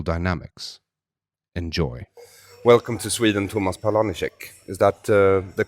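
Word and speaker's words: Tomáš Paleníček: Welcome to Sweden, Tomas Palenicek. Is that the correct pronunciation of your name? Well, almost. In Czech we pronounce it Tomas Palenicek, but you did well.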